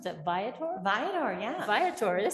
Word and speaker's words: Viator: She also creates content for tourism boards and brands, including dream job assignments for Bumble and, how do you pronounce that, Viator? Viator, yeah.